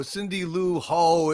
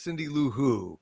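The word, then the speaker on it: Cindy Lou Who: he had it com you sure is not pronounced hooville I always hooville no no no Cindy L ho is no it's Cindy L who come on come on Taylor Muller said she's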